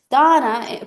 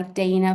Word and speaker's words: Dana: It is Dana, pronounced in Russian or Kazakh language, but I have been going by Dana for a very, very long time now, since I've moved to America.